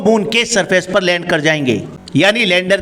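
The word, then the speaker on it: XRISM: amazing और spectroscopy mission जिसे pronounce किया जाता है क्रीज एक एक्स रिस्ट्रोनॉमी सैटेलाइट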